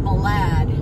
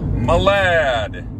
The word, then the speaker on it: Malad: it's spelled with an M Malad and it's pronounced Malad Malad and we're in this Kia Sereno s sento